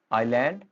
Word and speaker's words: island: Wednesday women busy seat आइलैंड date castle listen then comfortable vegetable chocolate police next is develop next is country.